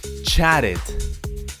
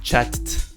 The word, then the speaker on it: chatted: say it in the past of course is chatted chatted do you see the difference it's not checked or chad is chatted chat it this one is easy